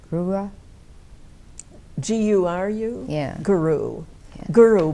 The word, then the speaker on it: guru: And then you have, I can't pronounce that either, the main one to make your intentions. And that's called G-U-R-U, Grua.